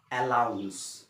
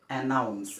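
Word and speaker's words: announce: এতে হেটুকু কয় অ্যালাউন্স তো অ্যালোন্স ন হয় এটুকু হইছে অ্যানাউন্স অ্যানাউন্স মানে ঘোষণা করা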